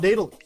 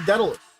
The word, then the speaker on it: Daedalus: The A becomes before the E. The thing is that I literally just put it into Google and told it to pronounce it to me. And then so it's apparently actually not daedalus. That's how I would assume it should have been, but no, it just had to be daedalus.